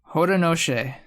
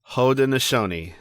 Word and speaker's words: Haudenosaunee: Yes, because I found out how to pronounce it. Haudenosaunee.